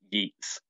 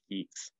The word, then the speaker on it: Yeats: And it's called Keats Doesn't Rhyme with Yeats.